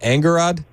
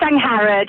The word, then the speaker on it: Angharad: Is it Angarad? It's Angharad, yes, Angharad.